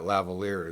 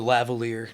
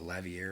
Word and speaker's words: lavalier: kept on, you know, the lavalier. No, that why I kept on saying, what did I call it, lavier or something? But anyways, kept on saying it wrong in the last video and forever. It's spelled kind of in a way that would make you want to say it that way.